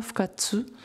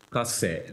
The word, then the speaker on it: Fukase: tels que Shohei Tomatsu, Kikuji Kawada et Masahisa Fukatsu. Fukase. Fukase. Fukase. 活性、不活性トーマス照明、まあそこら辺はあの日本の写真の歴史を見てると必ず出てくる名前ですね。 Donc, pardon pour la prononciation, ce sont des noms qu'on retrouve très souvent donc dans l'histoire de la photographie japonaise.